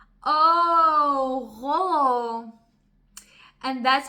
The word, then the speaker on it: Rødovre: To give you a little bit of a story, when I first moved to Denmark, I lived in a place called Rødovre.